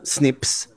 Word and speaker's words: SNPs: paper about how single nucleotide polymorphisms pronounced snips might alter the pharmacological